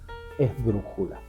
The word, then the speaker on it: esdrújula: ejemplo todavía y las esdrújulas son las que llevan el acento en la antepenúltima sílaba o incluso antes un ejemplo es justamente la palabra esdrújula a la hora de